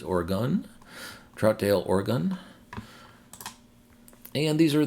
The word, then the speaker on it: Oregon: provided by a viewer I was saying or Aon but it's Oregon Troutdale Oregon and these